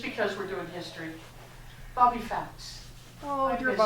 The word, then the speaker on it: Fouts: And will you say her name for the camera so it gets picked up on the Bobby Fouts. Felts? Fouts.